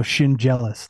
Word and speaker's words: Schendzielos: D and the Z if you say like a j so Shin jealous like you're jealous of your shin it's very easy much